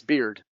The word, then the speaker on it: beard: the time, and that's beard. La barba, beard. Beard like beer, like como cerveza.